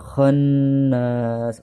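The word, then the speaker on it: خَنَّاس: Waswasil khonnas, nah lapad khon itu ada nun tasydid disebut dengan gunnah ya, artinya ditekan dan didengungkan sebanyak 2 harokat. Khonnas, dan lapad nas ini ada mad tabi'i di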